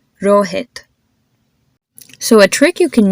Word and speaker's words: Rohit: names Karan n and Rohit do you notice how my consonant just sound a whole lot softer so try to repeat after